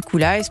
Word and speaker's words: Koolice: Cool Ice, il faut juste le rappeler, ça s'écrit KOOLICE.